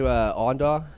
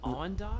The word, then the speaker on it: Awendaw: You ever been to Awendaw? No. No. Awendaw, South Carolina. It's like Awendaw? Awendaw. How do you spell that?